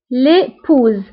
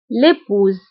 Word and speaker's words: épouse: ننطقها l'époux وبالنسبة للزوجة l'épouse فهنا اس نطقناها بزيد لماذا لانه جات ما بين دو فويل فكيسبقها فويل اللي هو او ويتبعها فويل اللي هو او فدائما اس فاش كتكون اونتر دو فويل فكنقراوها بزيد l'épouse الابن le fils فبالنسبة